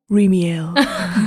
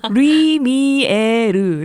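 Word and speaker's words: Lumière: 리미엘. 리엘이요? 다시 발음해주세요. 리미에르. 따라해보세요.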